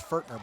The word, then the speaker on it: Fortner: Correction on the pronunciation. It's Fortner.